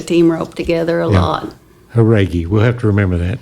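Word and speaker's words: Jauregui: I'm glad you pronounced that name, Andy Haragi. Haragi.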